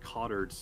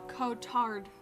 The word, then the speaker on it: Cotard: is kind of it's hard to bring like cottage syndrome i think it's how it's pronounced uh oh uh cotard syndrome cotard syndrome it's the name of the